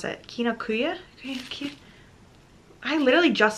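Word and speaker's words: Kinokuniya: I don't know why, but I always mispronounce it. Kinokuya?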